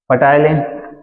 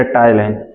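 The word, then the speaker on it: ptyalin: पटाइलिन या टाइलिन? क्या बेटा? टाइलिन। पी साइलेंट है बेटा, ठीक है। जो गलत प्रोनाउंस करते हैं वो सीधे पटाइलिन बोल देते हैं, ठीक है।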